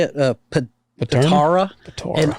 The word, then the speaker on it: Patara: And where he's from in Turkey, it's Patarna. How do you say it? Patara. Patara. And It's actually, he originally was from the city of Myra. I kept calling it Pantera.